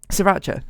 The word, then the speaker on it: Sriracha: put some serious um Sriracha that's how you say it that was like I was like serious charger doesn't sound right um yeah they had